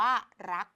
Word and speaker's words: รัก: ค่ะ เด็ก ๆ เรื่อง คำ นี้ อ่าน ว่า รัก รัก เกิด จาก รอ รัก นั่น เอง อ่า เรา เปลี่ยน รูป เป็น ไม้ หัน อากาศ และ สะกด ด้วย ตัว ก ไก่ ค่ะ เด็ก ๆ ดัง นั้น